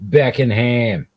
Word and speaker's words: Beckenham: beckenham in beckenham England I mean that's how you pronounce it back inham yeah helps parents struggling